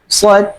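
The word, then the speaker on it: ص: Yang pertama kalau metodenya sanad yang lain pengucapan huruf sh itu agak lebih ee nempel langit-langit atas sh gitu ya.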